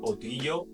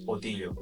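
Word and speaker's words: Ötillö: No sé si lo pronuncio bien, porque es una palabra, bueno, son varias palabras suecas, que sea O, Til, O. Entonces lo juntaron y le llamaron Otillo. Y Otillo es de isla en isla.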